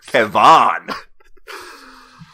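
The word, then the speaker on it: Kevan: Well, it's like spelled with an A instead of an I. Oh, Kevon.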